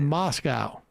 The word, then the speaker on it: Moscow: Same with Moscow.